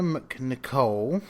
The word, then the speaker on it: MacNicol: Peter McNicol, probably Peter McNicol or something like that, but it's spelled MacNicol, and he plays Gary,